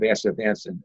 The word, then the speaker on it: astaxanthin: healthy aging, I really like the combination of astaxanthin and coenzyme Q10 together. Oh, that's interesting. That's interesting. This is the first time I'm hearing that. I don't want to try saying it right now. But astaxanthin.